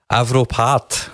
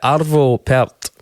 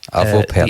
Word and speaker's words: Arvo Pärt: Arvo Pärt. No, wrong in both counts. Wow. Perfect score of 0 there. Nice. So it's Arvo, not Avro.